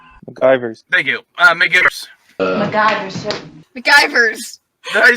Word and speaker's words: McGivers: MacGyver's. MacGyver's. Thank you. McGivers.